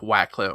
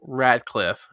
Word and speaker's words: Radcliffe: All right, so moving on to our next topic, it looks like Wackliffe. Why do I always mispronounce his fucking name? Daniel Radcliffe.